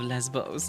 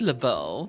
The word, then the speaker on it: Lesbos: Name the Isle of Lesbos, exactly. It's pronounced Lebeau. No, it's Lesbos.